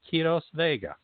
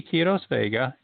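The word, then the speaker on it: Quiroz-Vega: longer today's guest is noted best-selling author vashti kiros vega and since you're going to want to go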